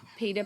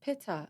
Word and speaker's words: pita: It probably is more pita bread because I's in these other languages tend to be pronounced as an E, Yeah.